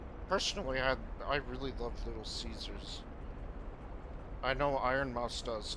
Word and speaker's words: Caesars: mouse does too except she pronounces it casers instead of caesar's like i've heard caesar i've heard kaiser from uh fallout new vegas but but caser that's not how you pronounce that word i'm pretty sure of